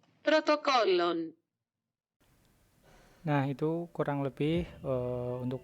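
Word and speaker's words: πρωτόκολλον: Jadi kita langsung aja lanjut ke bahasa Yunani yang pelafalannya kurang lebih itu seperti ini. Protokollon.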